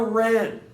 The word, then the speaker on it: wren: This is the Carolina wren. What? Carolina Red? wren. W-R-E-N. Wren.